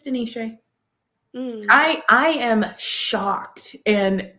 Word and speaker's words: De'Neshay: of those years I've been like, "No, it's Denise." Um, I feel like it doesn't take any It's not an emotional labor for me. Nope, it's Denise.